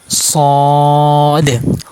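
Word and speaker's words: ص: সদ হরফ মাশ করব সদ হরফ জবার আগা নিচে দুই দাতের আগার সাথে লাগিয়ে উচ্চারণ করতে হবে সদ সদ সদ মোটা করতে হবে মোটা হরফ সদ সদ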